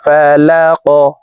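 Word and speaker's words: فَلَق: কফ যেহেতু কলকলার হরফ উপরের দিকে ধাবিত করে ধাক্কা দিয়ে উচ্চারণ করব। তো প্রিয় দর্শক দেখুন এইভাবে উচ্চারণ করতে হবে। শব্দটি এইভাবে পড়ব। বি রববিল ফালাক বি রববিল ফালাক।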